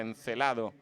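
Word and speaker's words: Encélado: Enceladus es la pronunciación inglesa, encelado sería en latín traer de Encelado fragmentos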